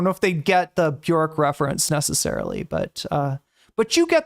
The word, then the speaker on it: Björk: Bjork, sorry, her name is actually pronounced Bjork.